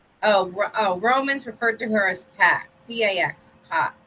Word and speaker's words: Pax: Romans referred to her as Pax, P-A-X, Pax. How do you say that? Oh, Pax?